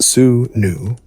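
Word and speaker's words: swnw: He is a Sonaloo, pronounced Sue new, a lay physician, or perhaps just a guy who knows a few spells.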